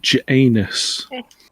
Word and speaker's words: Janus: You should pronounce it correctly. Janus.